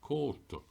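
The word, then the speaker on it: cóta: And the O being broad tells me the C is a broad K, coat, which is the Irish word for a coat.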